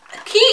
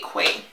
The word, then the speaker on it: Quay: Key is how you say them, right? Because I used to personally say Quay. I feel like Q-U-A-Y is just so Quay. I don't feel like it is so Key.